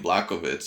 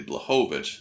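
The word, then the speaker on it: Błachowicz: this whole entire time i kept saying black of its is actually blejovic so my bad there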